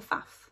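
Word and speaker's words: Pfaff: my eye on a A faf or a fa as the Americans say I think the Americans say fa which is much better than faf um because in in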